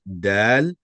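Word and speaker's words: دال: This one is dal. The name of this letter is dal and the sound that it makes is do. Name is dal and the sound is do.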